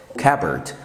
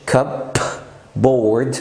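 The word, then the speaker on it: cupboard: المهم لما البي بتبقى جاي بعدها بي، دايما البي بتلغي صوت البي، زي كلمه كابورد كابورد، ما بنقولش كب بورد نو no.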